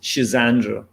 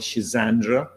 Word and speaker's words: Schisandra: ago um the third the next one is schisandra it's a Chinese herb and it's a very powerful tonic remedy and so you can get that easily in in Health Food Shops it's called schisandra s sh i z n d r a